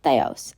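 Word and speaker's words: θεός: I'd try to pronounce it by yourself it's pronounced Theos and it means god next we have Tau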